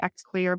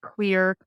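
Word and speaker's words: Xlear: a saline or xclear I say xclear but it's pronounced clear is going to be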